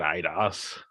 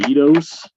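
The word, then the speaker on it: Eidos: purchased by somebody else not idos is the eatos yeah e-i-d-o-s i always call it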